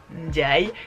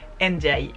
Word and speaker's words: Ndiaye: Il ne fait pas non plus l'effort de prononcer correctement son nom de famille, qui n'est pourtant pas si compliqué. Ndiaye, Ndiaye.